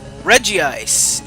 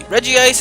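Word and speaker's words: Regice: ridiculous but whatever this is reggie ice is i think how the anime pronounces it at least even though it's not really spelled that way anyway reggie ice is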